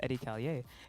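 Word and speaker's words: Edi Callier: was like oh yeah so it's pronounced eddie callier and she was like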